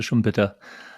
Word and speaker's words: Schumpeter: Yeah, I'm more of a schump than a shump person when it comes to shumpita because you can also struggle over the pa pronunciation because it would be shitta in in but I mean he really